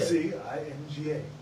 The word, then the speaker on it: Nzinga: I don't know if the N is silent or not. Right, and I was spelling it wrong, because I thought it was like N-A-N, Nzinga. Nzinga is what I thought it was, Nzinga.